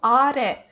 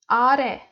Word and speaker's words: 아래: is important notion that we have to put our stress in the word for the last syllable. It's important. Okay, let's practice. 아래. You know, 아래, not 아.